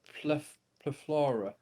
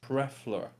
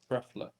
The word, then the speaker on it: plethora: No, Pleflora. I'm gonna. I don't care. Right. The pronunciation is Prefla. Prefla. Plethora. Right. Prefla. I'm having someone speak it in my ear.